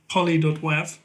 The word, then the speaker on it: Poly.Wav: You've started a brand called Poly.Wav. Mm-hmm. Am I pronouncing that correctly?